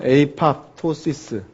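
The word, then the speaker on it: apoptosis: 영어로는 에이팝토시스 이렇게 얘기를 하는 거죠, 그죠? 그래서 에이팝토시스 또는 아팝토시스라고 부르는 기작이 있는데, 이 기작은 세포로 하여금 죽게 하는 기작입니다. 그러니까 이 세포가 멀쩡하게 살아있는데도 불구하고 에이팝토시스를 일으키게 한다면 죽어요.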